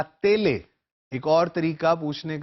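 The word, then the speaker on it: télé: एस आई ओ एन जैसे हम अंग्रेजी में प्रोनाउंस करते हैं उ ए ला तेले एक और तरीका पूछने का टेलीविजन को कहने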